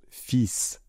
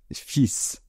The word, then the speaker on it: fils: Le deuxième mot était le mot "fils", un fils. Donc, attention à la prononciation, on ne prononce pas le L. Le fils, c'est l'enfant masculin.